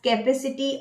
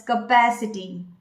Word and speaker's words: capacity: Do you pronounce it as capacity or capacity? If yes, that's a wrong pronunciation. You should pronounce it as capacity.